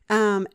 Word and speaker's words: Sukkot: Not phonetically. You would say it, I guess, as a Jewish person. Sukkot.